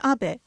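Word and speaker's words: 安倍: over to the White House my name is Abbe but in the United States some people mistakenly pronounce my name as ape but that is not bad because even in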